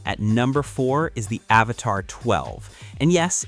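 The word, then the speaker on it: Avatr 12: Coming in at number four is the Avatar 12. And yes, it's pronounced Avatar 12, but the name isn't the controversial part.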